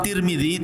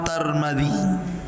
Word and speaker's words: Tirmidzi: kota sebuah daerah dan ada yang kemudian membacanya tarmid ada turmuz ada tirmid jadi ada sebagian mengatakan Imam tarmadzi ada yang mengatakan Imam turmudzi ada yang mengatakan Imam Tirmidzi walaupun yang Masyur adalah Imam Tirmidzi ya dan itu yang